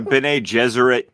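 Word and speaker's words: Bene Gesserit: to be developing like a Benet jeser uh series for Yeah Yeah by way that's how you pronounce that just just just wink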